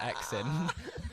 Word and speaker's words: EX.In: If people are listening who follow me on Instagram, follow me on Instagram, ex.in, but it's said X in. That's why, because I plug myself as ex.in because that's how it's spelled out.